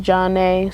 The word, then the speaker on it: Jon'Nea: I'm Jon'Nea, pronounced Jon'Nea.